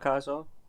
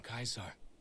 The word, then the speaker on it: Caesar: What about Kaiser? Caesar? It's pronounced Caesar, by the way.